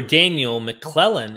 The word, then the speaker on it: Daniel McClellan: Daniel McClellan, am I pronouncing this correctly?